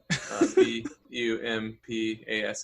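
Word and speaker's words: Bumpass: what it's called yeah it's bumpy ass that's just how it's spelled b-u-m-p-a-s-s bump ass um all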